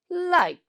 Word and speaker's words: light: in the same way you have to pronounce light just follow me light light at the end T sound very good now will